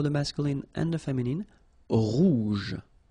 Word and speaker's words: rouge: Rouge. Remember, G-E, je. Rouge.